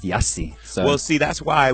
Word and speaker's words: Jussie: to go through like people thinking it was Juicy and all this foolishness. So, you know, well, God bless the children. Yeah, and here in South Africa, your name would probably be pronounced Jussie.